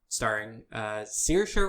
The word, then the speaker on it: Saoirse: New trailer for Mary, Queen of Scots, starring Saoirse Ronan. I actually did pronounce that right.